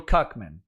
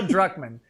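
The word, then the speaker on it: Druckmann: a guy named Neil Kuckman. Uh, and Drman, I say it wrong every time. It's Neil Duckman.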